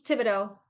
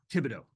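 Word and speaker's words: Thibodaux: pronounce uh is it Tibido Louisiana it's Tibido Tibido got it okay yeah the H is silent yep Tibido yep okay I knew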